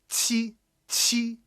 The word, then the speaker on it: qi: You've got the tongue position right. Qi, qi. So if you try to pronounce a TCH with that tongue position, you'll get it right a lot. Just make sure that you have that explosive, highly aspirated, sound to it.